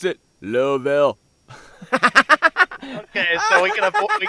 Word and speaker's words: Louisville: shaba they pronounce it lville okay so we can we can scratch out the Lewisville good J they pronounce it louville my friend on Skype